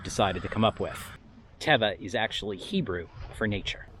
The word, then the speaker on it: Teva: to say is that it's pronounced teva not tiva it's thule not fool and it's arc terrix not whatever bastardization of that strange name you've decided to come up with teva is actually hebrew for